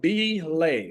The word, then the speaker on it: Belay: is Bay number one is called belay like delay but Bay